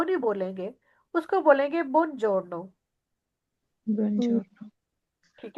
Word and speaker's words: buongiorno: buongiorno। ठीक है। जी। ओके जी। चाओ के स्पेलिंग भी आपने याद करना है।